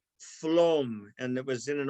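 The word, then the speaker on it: Flåm: near the town of it's spelled looking like flam but it's pronounced phloem and it was in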